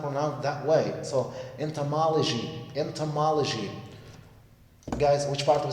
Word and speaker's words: entomology: waste now move to number eight the word entomology entomology entomology that's the pronunciation of the word just on how I